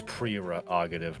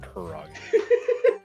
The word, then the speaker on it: prerogative: It's prerogative, not prerogative.